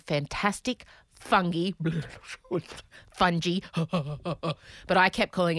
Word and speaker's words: fungi: It's actually fantastic, fungi. But I think I physically blocked that out because Americans say fungi. And that is just not okay.